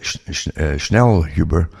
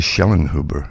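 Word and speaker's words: Schellnhuber: rid of us anyway M said that schel Huber is actually shellin Huber it's spelled wrongly here um will be signing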